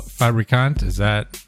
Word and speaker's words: Fabricant: Pleased to welcome today Professor Nicole Fabricant. Am I pronouncing that correctly? Got it. Hell yes.